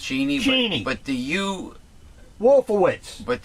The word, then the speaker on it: Cheney: Cheney, as he likes his name to be pronounced. Cheney.